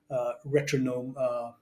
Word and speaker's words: Retronome: I watched your band Retronome. Is that how you say it? Yeah, Retronome, yeah, it's a as in play on the metronome.